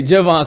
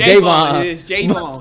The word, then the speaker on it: Javon: mad i think he's he gets mad when we say javon because it's jayvon but when you read